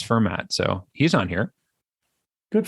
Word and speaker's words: Fermat: It's It's There's a T on the end. Anyway, if you want to pronounce it, just drop the T. That's kind of a Pittsburgh pronunciation thing, I know, to drop the last letter of stuff. So, but it's Yeah, it's Fermat.